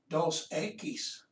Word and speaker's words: Dos Equis: i'm sorry a keys try to remember to pronounce that e like an a a keys dos a keys it's the greek it's